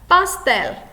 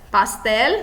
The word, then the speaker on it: pastel: Pastel. Pastel, no caso aí, como a sílaba mais forte é a última, nós classificamos como aguda.